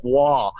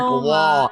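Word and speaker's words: Roy: Patrick Waugh, spelled R-O-Y. Wow. The last name Waugh, spelled with an R-O-Y. Okay. French Canadian as fuck.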